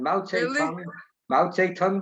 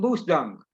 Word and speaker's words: Mao Zedong: And Mao Zedong became Moose Dung.